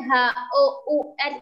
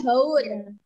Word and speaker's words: hour: Tulisan HOUR itu bacanya apa, teman-teman? Cara bacanya gimana? Hour. Very good. Bacanya adalah hour ya, bukan haur.